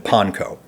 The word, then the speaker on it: panko: the Philippines, but regardless, this is all why the guys over at Upper Crust favor the pronunciation panko.